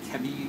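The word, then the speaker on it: ChEBI: So KEBI, it's pronounced KEBI with C-H, about 28,000 compounds.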